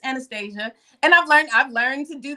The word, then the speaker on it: Anastasia: Listen, I fully understand and realize that I got the boring North American pronunciation. I stick to that because that's what I was given.